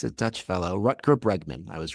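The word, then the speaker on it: Rutger Bregman: Ruter Bregman.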